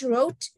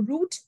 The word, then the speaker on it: route: Okay, they say which aircraft has to be used for which trip, for which route, or route, however you want to pronounce it, R-O-U-T-E, aircraft rotation for each trip.